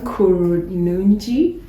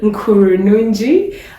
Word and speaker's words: Kurunungi: Kurunungi. Is that how you pronounce it? Yes, you got it. Kurunungi, and he is a founder of Impact Sourcing